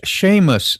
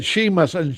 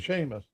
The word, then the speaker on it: Seamus: I said Seamus, and that should have been Seamus.